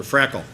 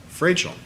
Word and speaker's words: Frachel: is it Frachel or Frackle? Frachel. Huh? 1 out of 3 ain't bad, I guess. I won't say how my dad said to pronounce it. I'm Frachel, 1065 Sunset Lane.